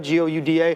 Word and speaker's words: Gouda: Most people pronounce it Gouda, G-O-U-D-A. Okay. That's wrong, okay? It's Gouda.